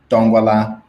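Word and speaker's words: Ndongwala: See, I don't use it often, so it's there's a silent N in front of it, so it's Dongwala.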